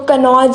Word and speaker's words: कन्नौज: बोला गया था, तो कन्नौज ही उसकी प्रोनाउंसिएशन है, लेकिन जो स्पेलिंग है वो क्यू है। प्रोनाउंसिएशन वही है पर स्पेलिंग क्यू है।